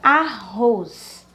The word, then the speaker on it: arroz: A palavra arroz. Arroz. Repita sempre antes de classificar. Então, a palavra arroz, a última sílaba, roz, ela é a mais forte.